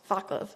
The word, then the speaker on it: Václav: Probably said that name wrong too, I'm sorry. Václav? Václav, okay, thank you.